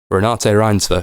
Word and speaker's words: Renate Reinsve: It's with starring, fuck me, how do you pronounce her name? Renate Reinsve. I looked that up. Renate Reinsve, who was in The Worst Person in the World.